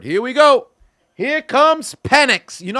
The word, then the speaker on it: Penix: Here comes Penix. You know how many people kept calling this man penis when they pronounce his last name?